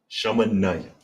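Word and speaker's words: שמונים: Shamanayam.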